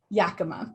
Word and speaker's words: Yakama: Will you please, did I pronounce that correctly? I also did not. Yakima, thank you.